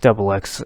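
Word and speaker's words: ××: manga series then came double x it says x squared but it's pronounced double x in japanese this was more or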